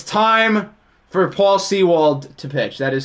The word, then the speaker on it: Sewald: It's time for Paul Sewald to pitch. That is how you say his name. Well, urinating tree's wrong. It's Sewald.